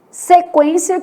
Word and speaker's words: sequência: Então, a gente tem quero, que o U é nulo, sequência, que o U é semivogal, e averigue, que o U tem um som forte, né?